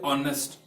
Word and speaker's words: honest: So I have here taken some of the words like honest. Honest starts with H sound, that is consonant. But H is silent over here.